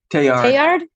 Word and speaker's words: Teilhard: Teilhard?